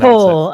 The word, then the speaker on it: Kaur: I am joined by Kaur. How do I pronounce Core, a bit like apple core.